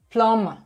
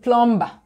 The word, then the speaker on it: plumber: that you pronounce the the word plummer in nigeria we call it plumber because there's a bee there if you call it